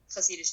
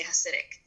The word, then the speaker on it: Hasidish: So it's just Hasidish is in the Yiddish language, the Germanic language that the Hasidish Jews speak. And so that is the pronunciation. But people who are not from the community will say Hasidic.